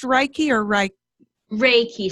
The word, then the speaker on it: Reiki: Reiki. So think of like Ray and then Ki.